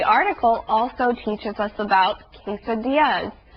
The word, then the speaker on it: quesadilla: Well, this part of the article also teaches us about quesadillas. That's another Spanish word with two L's together.